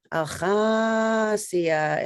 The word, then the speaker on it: Acosia: My Indian name is my given name, but it's pronounced Acosia. It means young swan rising, so they